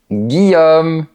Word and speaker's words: Guillaume: Généralement, les mots qui contiennent ILL se prononcent I. Par exemple, une fille, une famille, Guillaume, etc. C'est comme la lettre I, mais qu'on prononce légèrement plus longtemps.